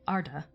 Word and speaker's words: Arda: a very rare exception typically like in arda it's arda um not arda it's leviosa not olivia saw um so it's arda but it's amman man